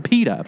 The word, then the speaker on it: PETA: stand for it and i'm not just talking about some guy named peter and i'm calling him peta i'm talking about the organization peta p-e-t-a you're not you're just not using the british pronunciation peter peter peter went to